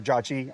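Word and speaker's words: Jochi: I've seen it spelled two different ways. J O T I and J O C HI or J O CI C hi. Either way um it's probably pronounced Jati or Jachi.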